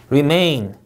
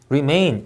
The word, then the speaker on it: remain: prepare, prepare 이음절 강세, remain, remain 이음절 강세.